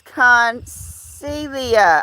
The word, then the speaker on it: Concelia: Okay, Connie is telling me it's Concelia. Okay, the G is silent.